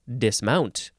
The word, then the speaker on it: dismount: next haha Dismount uh in this case you would actually emphasize the second syllable Dismount first form verb from 1566